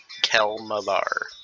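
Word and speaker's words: Kelemvor: It's spelled K-E-L-E-M-V-O-R. Kelmavar.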